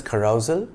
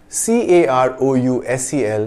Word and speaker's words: carousel: Do you pronounce carousel as carousal? The former ends in S-E-L and the latter in S-A-L. The two words have vastly different meanings. C-A-R-O-U-S-E-L, pronounced carousel, is the word that's more commonly used today.